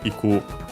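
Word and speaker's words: 行く: Particle ni, so towards, and yeah, used with a verb of movement, one of the typical ones here, iku, to go, unaccented. Again, actually here we see technically a present better used.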